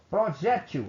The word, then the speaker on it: projétil: Projétil. Aí eu vou chamar a palavra. O projétil. A sílaba mais forte é a G.